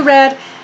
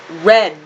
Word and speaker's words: read: is our key question the pronunciation here is red not have you read have you read right this is our past participle form of the verb have you read anything interesting lately